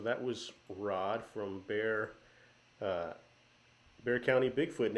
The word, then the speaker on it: Bear County: So that was Rod from uh, Bear County Bigfoot, and it might look like Bexar County to some of you guys,